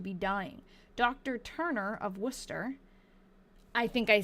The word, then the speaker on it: Worcester: Turner of Worcester, I think I say that wrong. I pronounce that like it's pronounced in Massachusetts, was summoned and he revived and was taken home.